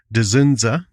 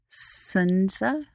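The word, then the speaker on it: Dzundza: Starring George Dzunza. Sunza? I think the D is pronounced.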